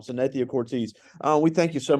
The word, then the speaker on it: Cortese: assets Financial here in Ridgeland so not the Cortez yeah I say your name wrong every time I've had her three times and I always say her name wrong Cynthia Cortese uh we thank you so much for joining